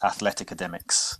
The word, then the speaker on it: Athleticademix: bit unique name so it's a fusion of those two words pronounced athletica demux yeah and we had